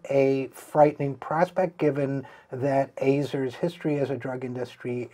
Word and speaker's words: Azar: This week, the Senate took another step toward the confirmation of pharmaceutical industry executive Alex Azar. It's A-Z-A-R, but pronounced Azar, I'm told, toward Azar's confirmation as